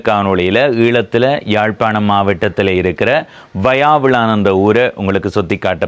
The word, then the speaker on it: வயாவிளான்: முன்னமே ஒரு தெளிவுபடுத்தல், நிறைய பேர் வசாவிளான் என்று சொல்கிறவர்கள், சில பேர் வயாவிளான் என்று சொல்கிறவர்கள். வயாவிளான் என்று உச்சரிக்கிறவர்கள் மிக குறைவு. ஆனால் இந்த ஊரினுடைய சரியான உச்சரிப்பு வயாவிளான்.